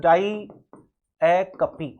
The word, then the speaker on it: diacope: Figure of speech होती है वो होती है डायाकपी। क्या होता है, डायाकपी, DIACOPE। ध्यान रखना प्रोनाउंसिएशन भी ध्यान रखना, डायाकपी क्या होता है प्रोनाउंसिएशन, डायाकपी, ठीक है।